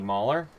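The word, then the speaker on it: Moller: Um on the blue line, Randy Mhler or Randy Mohler, depending on how you pronounce it. I heard it both ways.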